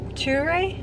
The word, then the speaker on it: Ture: this morning at, I guess it's called like True Cafe. I don't know if that's how it's actually pronounced because it's got a little. It's Ture. Ture?